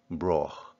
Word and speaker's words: Broagh: And then at the end, he focuses on the last syllable of Broagh. A sound particular to the local area, a glottal, a bit like the Loch or the German Ich, Broagh.